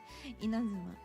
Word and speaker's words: Inazuma: Inazuma. In Japan, the na is the top note.